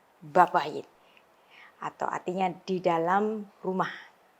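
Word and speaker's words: בבית: Ya, B-nya ini weak, yang kedua itu strong, jadi babayit. Ya, babayit.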